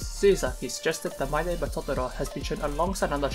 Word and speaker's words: Totoro: In order to win over finances, Miyazaki suggested that My Neighbor Totoro has been shown alongside another Shiro Kipli film, Grave from the Fires, as a double feature.